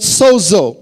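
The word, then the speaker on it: σώζω: in the past it's about the Greek word Soo uh if you want to spell it down write it down in English you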